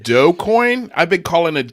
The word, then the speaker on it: Dogecoin: jazz shaw's in the comments he says it's pronounced doe coin i've been calling it doggy coin this whole time i told you i told you i told you the other day jazz it's dogecoin you're like no it's doggy coin i'm like